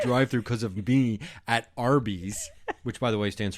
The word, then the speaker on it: Arby's: That's why Arby's is called Arby's. Arby's. Roast beefs. And it's it's stand it stand it's the way to phonetically say or it's the way to say the letter RB Arby's.